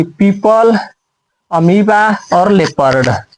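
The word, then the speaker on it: amoeba: जैसे ये होता है पीपल, ये होता है अमीबा, यानी कि ई के बाद भी आ गया वो तो वो साइलेंट हो जाएगा। यहाँ पे ई के पहले भी आ गया वो, तो यहाँ भी साइलेंट हो जाएगा।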